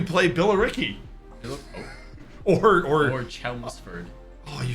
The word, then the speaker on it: Chelmsford: Billy Ricky or or Chelmsford oh you said it right first time I saw it I said kelmsford I mean it might be no it's it's Chelmsford I've been flat I've